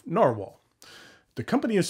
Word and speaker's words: Nahvalur: It is Nahvalur, which is Icelandic for narwhal. And while the company is changing the spelling of their name, they've chosen to keep the pronunciation of narwhal.